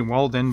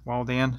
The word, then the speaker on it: Waldan: to pronounce it w-a-l-d-a-n i want to say walden but it's wall dan so anyway let's um